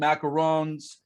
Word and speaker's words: macaron: all the different friends macaroons well macaroons right are the the coconut the macarons are french anyways so you say is that how you pronounce them that's correct macaron is the cookie macaroon is the coconut one okay when you i'm